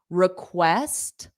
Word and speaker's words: request: did you now request the syllable stress is on West so this re e is unstressed R request request and an extension so